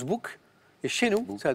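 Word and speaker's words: boek: cl bouquin ouais alors le mot néerlandais s'écrit B O k mais se prononce book et chez nous ça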